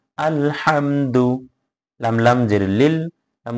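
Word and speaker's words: الحمد: হা মিম জবর হাম আলহাম দাল পেশ দু আলহামদু সাধারণ ভাবে হবে আলহামদু শুধু হা টা গলার মধ্যখান থেকে উচ্চারণ হবে আলহামদু হামজা লাম জবর আল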